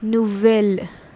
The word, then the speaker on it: nouvelle: different from that we did earlier it becomes nouvelle nouvelle n o u v e double l